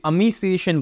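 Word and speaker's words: emaciation: सो इमेसिएशन, अमीसिएशन बोलते हैं इसको, बेसिकली प्रोनाउंसिएशन इसकी अमीसिएशन होती है।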